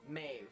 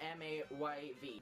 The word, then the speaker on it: Maeve: Maeve. Maeve. That's how you pronounce it. Maeve. It's just a sped up version. Maeve. You just pronounce it like M-A-Y-V. Maeve.